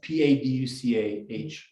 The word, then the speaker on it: Paducah: union troops capture a town i can't pronounce paducah paducha how do you pronounce p-a-d-u-c-a-h paducah kentucky okay um uh a good book